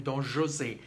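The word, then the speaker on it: José: exactly that's funny actually the pronunciation of Jose because Jose is a Spanish name but because it is in for the operas in French they don't call though Jose they call him Don Jose which is very fact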